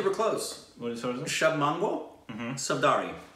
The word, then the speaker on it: Shubh Mangal Saavdhan: Shubh Mangal Saavdhan. Is that an R-I or an N? No, Saavdhan. Shubh Mangal Saavdhan.